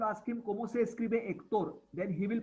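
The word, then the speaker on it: Héctor: If you spell as per pronunciation, pronounce as per spelling, H is silent. So you hear Hector, you may tend to write it down as Ector, which will be wrong.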